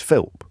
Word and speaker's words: Philp: I think it just Philps singular. It's Philp singular. I don't know why I'm getting pedantic about that, but I don't want him getting off the hook because people are getting his name wrong. It's Philp. Chris Philp.